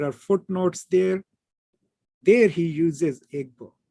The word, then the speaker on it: Igbo: Now, Igbo is the native pronunciation of the word, okay, in the Igbo language. Ibo was used by the Europeans because they couldn't say Igbo properly, and that has been the accepted term in most writings.